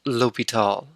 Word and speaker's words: l'Hôpital: accents on letters now it might be spelled with an s but it's still pronounced l'hopital without going into all